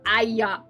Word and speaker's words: Aya: Aya. Wait, two syllables. Aya. Aya. Yeah, two syllables.